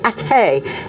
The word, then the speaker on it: Athea: and I said, "My father's from Athay," and they'd say, "Oh, you mean Athy?" Athy in County Kildare. And I said, "No, Athay. No, you mean Athy." They thought I was mispronouncing it. I'm like, "No, Athay, Athea, County Limerick.